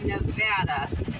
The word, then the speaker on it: Nevada: going from Arizona Nevada that's not Nevada it's not Nevada it's Nevada and the nevadians will kick your butt if you say it wrong and that means you